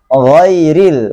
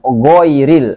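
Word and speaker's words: غَيْرِ: Maka dibacanya ghairil, bukan goiril. Sangat jauh. Ya. Tapi harus tebal. Jangan gairil. Itu tipis, nggak boleh.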